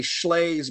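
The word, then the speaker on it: Shlaes: and Roosevelt is Amity Schley's book called The Forgotten Man. Her name's odd. It's spelled S-H-L-A-E-S. Amity Schley's The Forgotten Man is real good.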